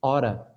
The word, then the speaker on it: ought to: Você sabe o que quer dizer esse ora? Que é o ought to, que a gente pronuncia ora.